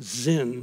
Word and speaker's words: Zin: the wilderness of sin I love that si n sometimes pronounced Zin but nonetheless same thing